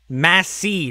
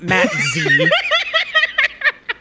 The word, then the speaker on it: Matzy: Matzy, not Matzy. No, legit, if you have captions on and you say my name, it comes in as Matzy or Matzy.